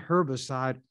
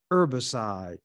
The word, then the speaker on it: herbicide: they develop a herbicide some won't pronounce the h when it's with herb sh not herbicide herbicide but however you pronounce it it's still the same